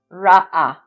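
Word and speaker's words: ראה: You don't really hear the sound of the H sound at the end from the Hey. Ra-A.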